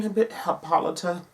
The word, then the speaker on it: Hippolyta: And Queen Hippolyta, yes, that's how you say it.